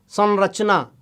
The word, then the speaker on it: संरचना: उदाहरण के तौर पर संरचना में न है, संवाद में म है, मतलब देखिए स के ऊपर अनुस्वार लगा है, दोनों में स के ऊपर है, एक जगह उसका उच्चारण न हो रहा है और एक जगह पर